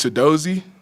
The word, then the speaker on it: Chidozie: start with a uh tutorial on how to pronounce your name it's Toad dozi the in the first in and my